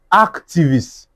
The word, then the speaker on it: activist: Federalism, nationalis- nationalist activist. Even this one, this one is even the one that I will show well well. activist activist. You understand? So, first syllable, first syllable, first syllable, first syllable.